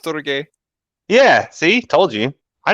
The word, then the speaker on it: storge: It is pronounced storge.